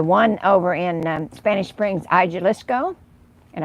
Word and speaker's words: Jalisco: The one over in Spanish Springs, Jalisco, and I can't say that right because I know you don't pronounce the J, but it's hard for me to say it that way.